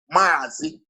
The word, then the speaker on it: Mazi: So to pronounce Mazi Nnamdi, they wrote it M-A-A, Mazi. They didn't write M-A, they wrote Mazi.